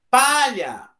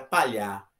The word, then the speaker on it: palha: Palha! Se você disser que é no ar, vai ficar palhar, não é palhar, é palha, penúltima sílaba.